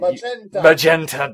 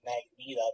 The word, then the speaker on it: magenta: For the first couple of years of my life, I always pronounced it Magneta because I was only familiar with it like a female version of the X-Men.